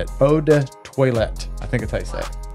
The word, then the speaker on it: toilette: eau de parfum Roday toilet toilet toilet it's not toilet it's toilette I think it's how